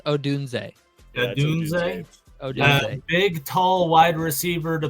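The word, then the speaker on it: Odunze: the ninth pick are going to select Rome OD whoa whoa It's pronounced Odun big tall wide receiver to put on the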